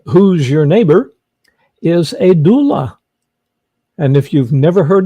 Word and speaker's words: doula: what the heck is a doula I did did I pronounce it right that is correct Terry is somebody who